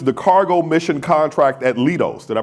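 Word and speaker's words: Leidos: So sitting beside me is Ernest Sanchez who manages the cargo mission contract at Lidos. Did I pronounce that correctly? Lidos. Lidos. Lidos.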